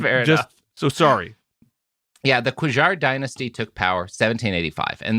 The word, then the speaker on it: Qajar: Q A J J A R I think it's Qajar. Qajar.